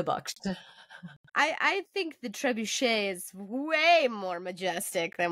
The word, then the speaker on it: trebuchet: a really how do you say that again trebuchet girl I called it trabucked baby girl you keep on calling it whatever you want that's fine to Bucks I I think the trebuchet is way more Majestic than when I was